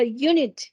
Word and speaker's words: unit: vocal Okay por ejemplo la palabra unit empieza con vocal pero su sonido es de consonante unit varía mucho OK